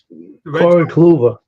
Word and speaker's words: Corey Kluber: How do you pronounce it? Corey Kluber.